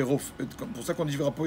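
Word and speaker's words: רופא: Mais à Kadosh Baruch Hu, on dit Rofé. Le P, il est sans le point dans la lettre fait. On le prononce fait.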